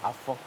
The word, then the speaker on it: Afa: On écrit A-F-A, mais on prononce Afan.